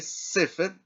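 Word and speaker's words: סֵפֶר: Y se lee sefer, se acentúa en la primera sílaba porque encontramos este tipo de acento aquí arriba.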